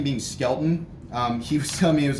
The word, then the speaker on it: Skelton: his last name being Skelton he was coming it was often men I can understand this often mispronounced as skeleton which is why when